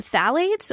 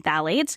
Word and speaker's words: phthalates: phthalate free products and phthalate is actually spelt with a p it's p h t h a l a t e s so if you google it with a t it won't well it'll